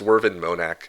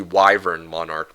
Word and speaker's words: Wyvern Monarch: The one pronunciation that I don't want to be corrected on though is Worvin Monac. I get triggered whenever people try to correct my pronunciation of Wyvern. Well, I mean, it's supposed to be Wyvern Monarch, but I always have to call it Worvin Monac for West, you know, like that's a running gag I'm gonna uh keep